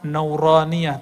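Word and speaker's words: نورانية: Makanya ribat tuh kita kasih nama Nuraniyah. Itu bacanya Nuraniyah.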